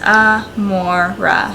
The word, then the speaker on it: Amora: it means love and it's pronounced a mora so i think that's